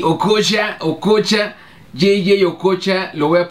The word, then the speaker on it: Okocha: Y me vas a apostar, por favor, pronuncia bien mi nombre. No es Okocha, es Okocha.